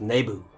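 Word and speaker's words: Naboo: the fantastic spectacular jewel in the hangar of nebu as george lucas pronounces it there's another space here i'm thinking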